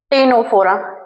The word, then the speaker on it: Ctenophora: जिसका नाम है टेनोफोरा। ठीक है? यह सी साइलेंट है इसमें। लेकिन यह सबसे इंपॉर्टेंट और सबसे रोचक तत्व है।